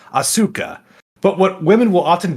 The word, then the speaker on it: Asuka: Yeah, because one of the things they do in Japanese, the letter or the vowel U is often weakly pronounced. That's why it's Sasuke, not Sasuke. That's why it's Asuka and not Asuka.